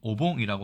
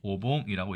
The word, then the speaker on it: 御盆: 자, 우리나라 어분이지만 일본어로는 오봉이라고 하고요. 일본어로 먼저 보면 오봉이라고 얘기합니다. 중원, 이게 바로 백중날을 얘기하죠.